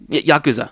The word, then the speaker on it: yakuza: got to be yakuza or how do you pronounce it yakuza yakuza there you go yeah that's what that's